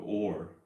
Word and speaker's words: oar: So just think like OR, like should we go to Vegas or should we go to Los Angeles? 그냥 or처럼 똑같이 발음하시면 돼요. 조금 더 엄밀하게 따지면 조금 더 길어요. So oar.